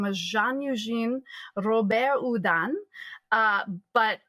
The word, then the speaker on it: Houdin: Rober Udan uh but it's the second part of his hyphenated last name is spelled h o u d i n so uh to us it would kind of look like hudin or Howen um and Eric at